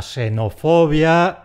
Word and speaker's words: xenofobia: Y luego están los xilófonos, la xenofobia, etc., que son palabras que están formadas sobre raíces griegas. Ahí la equis suena como una simple ese.